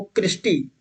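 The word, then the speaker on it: crista: ये जो फोल्डिंग होती है इसी को तो बोलते हैं क्रिस्टी। क्या बोलते हैं? इसी को बोलते हैं क्रिस्टा। क्रिस्टा बोलो या क्रिस्टी? क्रिस्टा, जो सही प्रोनाउंसिएशन है वो क्रिस्टा होता है, क्रिस्टा।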